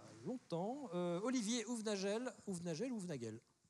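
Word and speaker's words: Houvenagel: Olivier Ouvenagel, Ouvenagel ou Ouvenagel ? Ouvenagel. Parce que je suis tellement à cheval sur la prononciation de mon nom que j'y vais mollo.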